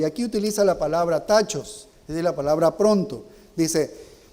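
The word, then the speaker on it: τάχος: 1 dice pronto pronto en el idioma originales tachos así se lo pronuncia tachos consulte el léxico griego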